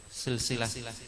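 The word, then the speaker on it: سلسلة: Nah, tapi silsilah bisa bacanya bikasri sin ya, dari silik itu artinya kabel. Silkun artinya kabel. Nih silkun artinya kabel. Silkun kabel. Silsilah dari silkun minal hadid,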